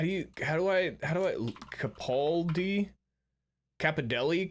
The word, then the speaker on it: Capaldi: Capadelli? Capaldi.